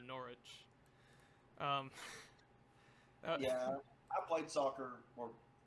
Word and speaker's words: Norwich: made fun of me for mispronouncing Norwich, or as it's really called, Norwich.